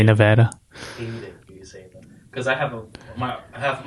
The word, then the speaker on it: Nevada: And you know it's Nevada? Not Nevada. Right. Yeah, you gotta say Nevada. Because I have half of my art team is in Reno. I always say Nevada, and they're like Nevada.